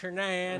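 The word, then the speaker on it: Shanann: it's North Carolina they're white trash so she's shenan that's how you pronounce I got my wife shanan shanan Watts big booty Tonka so they met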